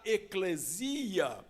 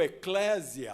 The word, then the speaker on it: eclesia: termo igreja é a palavra eclesia ou Eclésia as duas pronúncias estão corretas Porque como no grego não há acentuação nas palavras as duas formas são corretas eu prefiro eclesia porque parece mais grego né meio meio vaidoso